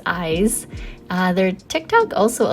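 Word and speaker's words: Ize: press on Twitter and ask them how to pronounce their name I was never sure but they did confirm its eyes uh their Tick Tock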